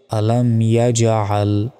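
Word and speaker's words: ألم يجعل: এখানে তো আছে আইন আইনটা গলার গলায় চাপ দিয়ে উচ্চারণ করতে হয় এখানে সঠিক উচ্চারণটা হচ্ছে আলাম ইয়াজাল আলাম ইয়াজাল কাফিয়া জবর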